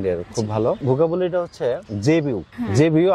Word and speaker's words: Zebu: খুব ভালো ভোকাবুলারিটা হচ্ছে জেবিউ জেবিউ আমি উচ্চারণটা বলে দিচ্ছি জেড ই বি ইউ জেবি ইউ মানে কি 10 সেকেন্ড